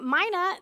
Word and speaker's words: mina: I don't know if you noticed, but Megan said Mina. I'm saying Mina. There's a division in the church over how to pronounce that word. In the Greek, it's pronounced Mina.